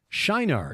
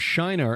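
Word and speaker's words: Şinar: Anyway, this location in southern Turkey is Shinar. It's just spelled with a C with the circumflex below it. C circumflex I-N-A-R.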